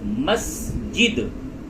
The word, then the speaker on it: مسجد: مسجد میں نماز پڑھتے ہیں۔ دیکھیں اس کا تلفظ مسجد، مسجد یہ صحیح تلفظ ہے، میم سین زبر مس، جیم دال زیر جد، مسجد، مسجد میں نماز پڑھتے ہیں۔